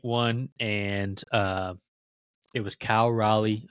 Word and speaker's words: Raleigh: Last week, Nate won, and it was Cal Raleigh. I can barely say his name. I always want to say Riley and Lindor, who led all of MLB with home runs with 4.